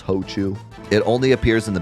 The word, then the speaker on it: Hochu: They probably thought that Ochu might be weird to pronounce in English, so they put the ho there to make it like obvious it's Hochu.